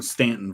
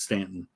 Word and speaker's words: Staunton: No, because Woodrow Wilson was born in Stanton, Virginia, spelled like Staunton, but it's Stanton.